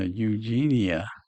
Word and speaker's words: Eugenia: It could be a hard G or a soft soft G. J or G. Eugenia. And you can't tell by the spelling what exactly that G is. But I do believe we're going to find out. Eugenia. E U G J N I A. Eugenia. Yeah, Eugenia. That's a soft G. E U is U, which sounds like phonetically beginning with a Y.